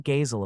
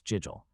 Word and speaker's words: Jigel: You mean Gazel of the Moratti family incited this. No, it's Jigel, right? Jigel, what a difficult name to pronounce.